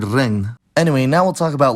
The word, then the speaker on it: regn: Finally, ng is pronounced [ŋ], and on a similar note, the digraph gn results in the interesting cluster of , like in the word regn.